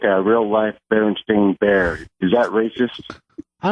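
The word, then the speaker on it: Berenstain: Um, but she does have a Bernstein bear look or burn and stain bear. The proper way to say it.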